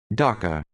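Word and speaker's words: dukkha: So, docker. So, it pronounces it like docker.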